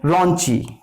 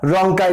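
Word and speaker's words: rhonchi: रॉन्ची या रोंकाई भी बोलते हैं, अलग अलग इसका प्रोनाउंसिएशंस हैं।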